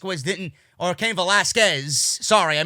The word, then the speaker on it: Velasquez: generate any rating if Tyson Fury and came velasca was didn't or came Velasquez sorry I mispronounced the wrong there'll be people in the